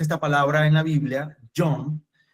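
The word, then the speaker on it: יום: La palabra se escribe John, Y-O-M.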